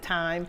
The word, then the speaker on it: thyme: friend he says thyme I pronounce it time it's time it's time